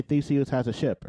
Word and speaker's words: Theseus: But you're a Ship of Thesis? Come on. Are you? I probably trying to make me look dumb on your own podcast. I pronounced it wrong. Theseus. It's Greek. Okay, well, explain that to me.